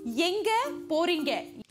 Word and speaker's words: Yenga poringa: Where are you going in Tamil is Yenga poringa. Yenga poringa. Did I say it right? Yenga is where, poringa is go.